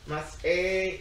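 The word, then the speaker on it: Masei: Let me just look at the Hebrew so I can pronounce it right. Matot and what goes, wait, it goes. Mas A. And so it's Mas A and Matot and Mas A, and it's from Numbers 30.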